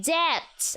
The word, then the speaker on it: debt: The B is silent in debt.